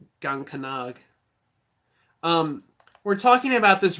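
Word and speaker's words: Gean-cánach: to put it lightly the word is pronounced and Gant gonca nog um we're talking about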